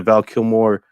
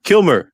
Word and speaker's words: Kilmer: it comes with the val kilmore unmasked this is like sorry say his name again kilmer kilmer killer there you go kill more is a different guy right it was maybe